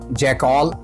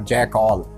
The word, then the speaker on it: jackal: इसे हिंदी में गीदड़ कहा जाता है और हम लोग इसे इंग्लिश में जैकॉल या जैकाल कहते हैं। ये शक्तिमान नहीं चल रहा है कि डॉक्टर जैकॉल।